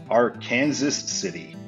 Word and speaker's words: Arkansas City: But now we're finally in an area that I know about, so I know the correct pronunciation of this, and that is Arkansas City.